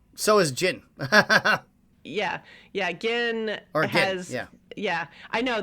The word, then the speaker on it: Gin: has yeah I know they spell it g i n and so when I write it in my notes I put an H in there just to remind me that it's a hard G yeah but yeah so